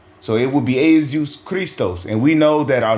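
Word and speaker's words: Χριστός: aus cist okay cuz I believe Christos is how you say Christ in the Greek which goes back to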